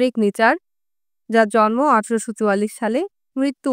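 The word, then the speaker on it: Nietzsche: নিচের সম্বন্ধে কোন কিছু জানা শুরু করার আগে প্রথম চ্যালেঞ্জটা হচ্ছে তার নামের উচ্চারণ কিভাবে হবে? নেই প্রথম অংশটির উচ্চারণ নি। পরের অংশটি চাহ। সুতরাং জার্মান নিচা উচ্চারণ হচ্ছে নিচা।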